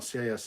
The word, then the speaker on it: cis: Pete's channel, CIS is pronounced cis.